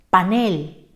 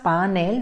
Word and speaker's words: panel: la palabra notarás que separadas en sílabas panel dos sílabas clasificar as el grupo de la equis leerás al natural dice panel y en este momento